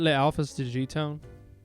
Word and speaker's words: Le Alphas De G Town: you and your team uh have I been pronouncing your team name right is it Le Alphas to gtown yeah yeah it is okay all right good